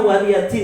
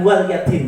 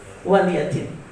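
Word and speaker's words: وَلِيَ دِينِ: Itu bacanya waliyadin ya, bukan waliyadin gitu. Banyak orang yang bacanya lakum dinukum waliyadin. Yang betul lakum dinukum waliyadin.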